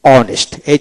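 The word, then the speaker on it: honest: হবে অনেস্ট বানান করতে হলে ও এনই এসটি অনেস্ট উচ্চারণ হবে না।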